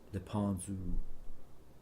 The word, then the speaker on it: Lependu: That final syllable so hard in plain English Canadian. The narrowness of U, suggestion of a Z, Lependu. Say it like sipping very dry wine, perhaps with fingers clustered in the air.